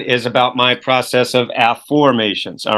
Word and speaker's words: Afformations: For most people listening to the program, it's Afformations, and it's spelled AFFOR. Mations, Afformations, not affirmations, but Afformations.